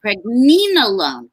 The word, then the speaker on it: pregnenolone: Can we visit the, I think you pronounce it pregnenolone, correct?